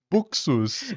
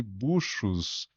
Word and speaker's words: Buxus: pensei e falei, puxa vida, eu chamei de buchos a vida inteira. É, que é do latim, né? Acho que é buxus mesmo.